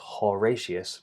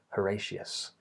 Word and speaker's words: Horatius: It's not Horatius, but that has the schwa for the O spelling, Horatius.